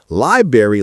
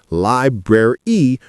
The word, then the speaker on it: library: Not library like the fruit. It's library with both Rs articulated. Three syllables. Tricky tongue movement.